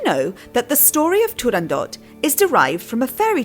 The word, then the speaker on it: Turandot: of the opera is Turandot, with a hard T at the end?